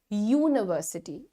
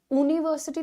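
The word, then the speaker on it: university: यू are pronounce it आप कहते हैं यूनिवर्सिटी उवर्स टी थोड़ी कहते हो यूनिवर्सिटी तो पहला साउंड य का है उसके बाद की तुम्हारी मात्रा उ है फर्स्ट साउंड इज य य यानी कि वाई वाई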